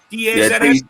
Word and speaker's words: DAZN: And for all you people in Canada, I don't know how you pronounce this, but it's DAZN, is it? DAZN? D-A-Z-N?